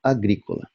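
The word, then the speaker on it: agricola: A penúltima sílaba é co. Em cima do O, vemos a braquia, isto é, o sinal de vogal breve. Que indica isso? Indica que o acento deve recuar para a sílaba gri, ou seja, para a vogal imediatamente anterior, pronunciando-se então agrícola.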